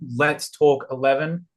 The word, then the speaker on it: Let's Talk XI: Uh you can come over to my channel, Let's Talk 11. Uh it's pronounced Let's Talk XI cuz Oh, but uh over there we do uh analysis for Tottenham and FP updates.